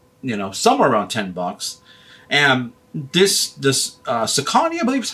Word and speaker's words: Saucony: And this Saucony, I believe is how you pronounce it, isn't the best brand, but the Endorphin Shift is a really good shoe to look out for.